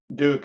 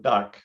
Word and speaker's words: DUC: change the trend here of pronouncing duc as duke instead of duck but that's just a